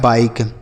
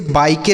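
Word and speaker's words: bike: आई का उच्चारण आई बाय के से क लिखा है बाइक। ठीक है? इसे बाईके नहीं पढ़ेंगे।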